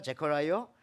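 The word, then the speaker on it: Zechariah: 뜻입니다 다시 한번 구약의 선지자 스가랴를 보십시오 영어 발음으로는 제어라고 합니까 재커라이어 그 앞에 스가라 말이 영어에 제라 제라 자카르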